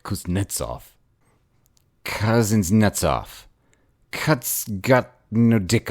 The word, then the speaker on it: Kuznetsov: Cuts his nuts off," I informed him. He stared at me, and without changing expression, corrected my pronunciation. "Kuznetsov," he said. "Cuts his dick off?"